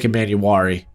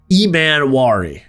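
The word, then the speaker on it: Emmanwori: And then obviously Nick Emanuari uh Emanari apparently I've been saying that incorrectly. I've been adding an extra syllable somewhere. I don't know.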